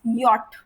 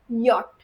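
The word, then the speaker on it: Jot: The J letter in German always and always gives the pronunciation of Y. And this letter, you can say it's yacht. Like how the letter itself is pronounced, yacht.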